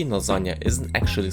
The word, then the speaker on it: lasagna: There is no other way in the Italian language to express this sound, and -gn- can only correspond to one sound.